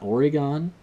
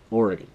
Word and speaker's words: Oregon: home state of Oregon it's not Oregon it's or e gun just like I say Oregon us guys from Oregon